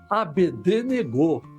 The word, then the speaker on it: Abednego: Azarias passou a chamar Abednego. É, isso mesmo, é assim que se pronuncia, eu pesquisei, viu?